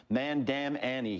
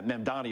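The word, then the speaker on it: Mamdani: Especially when you have how do you pronounce his name again? Sharpton called him Mandam Annie. He added nine letters to the guy's name. It's it's remarkable. Yeah, Mandani is the correct way.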